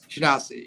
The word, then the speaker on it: Shinasi: for my name, and I said she and Nazi, and then I said I'm neither, so that way it sticks, and it's not Nazi but it's Nasi, so Shinasi.